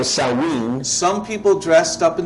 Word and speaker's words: Samhain: During this festival of Samhain, Durante este festejo pronunciado Samhain, some people dressed up in these costumes, muchas